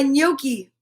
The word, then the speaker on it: gnocchi: net nibbling at my gnocchi see that g is silent a gnome gnat and